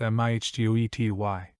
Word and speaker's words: mitote: Your whole mind is a fog which the Toltecs called a mitote, pronounced mihtety.